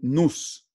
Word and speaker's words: nous: Y él también habló de un nous, N-E-U-S, pero creo que se pronuncia nous, o sea, la mente ordenadora, esa mente que ordena la naturaleza.